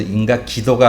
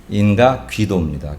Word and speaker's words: 인가귀도: 발음이 잘 안 돼서 인가기도가 아니라 인가귀도입니다.